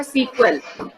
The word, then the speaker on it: SQL: Read कैसे करते हैं, बहुत सारे लोग ये बोलते हैं सीक्वल। ये देखिए यहाँ पे इसको प्रोनाउंस करने का तरीका यहाँ पे दे रखा सीक्वल।